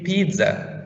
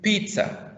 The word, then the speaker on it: pizza: delicious by the way don't say pizza say pizza okay it's pronounced like s sound pizza the next one susan